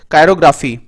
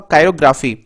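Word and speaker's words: chirography: अगला वर्ड देखें, अगला वर्ड आप लोगों के सामने है कायरोग्राफी। जी हाँ दोस्तों, इसका प्रोनाउंसिएशन कायरो होगा, कायरोग्राफी। कायरोग्राफी जो है हाथ देखकर भविष्य बताने की कला।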